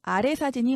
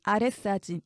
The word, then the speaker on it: 아래 사진: 땐 아래 띄고 사진 발음할 때도 아래 사진이 맞습니다 윗사진 아랫사진 이렇게 사이시옷을 넣어서 뒤에 된 소리로 발음하면 틀린 표현이 됩니다 위사진 아래 사진 왜냐면